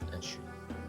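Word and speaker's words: 円周: Enshu is the Japanese word for circumference, pronounced Enshu. A soft take, glide that, opens the mouth near the front.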